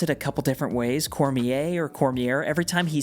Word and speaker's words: Cormier: First, I want to start with Aang himself, the last airbender, and he's being played by Gordon Cormier, and I've heard people pronounce it a couple different ways, Cormier or Cormier.